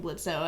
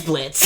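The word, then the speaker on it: Blitzø: Give me next episode Cash Buxo shows up and keeps calling him Blitzo, and then Moxie fucking comes out like, it's Blitz. It's Blitz, actually. The O is silent.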